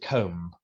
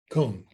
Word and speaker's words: comb: asked know the rule if it comes after M and it's at the end of the word uh then it's not pronounced swim comb Etc most